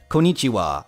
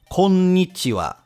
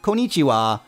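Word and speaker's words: こんにちは: pronounce as possible but this is not pronounced konichiwa as I hear a lot of people say there is a very deliberate n sound placed between the co and the knee making you draw out the sound konichiwa konichiwa and when I say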